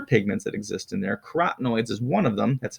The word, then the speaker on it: carotenoids: Carotenoids is one of them. That's how you pronounce that, carotenoids.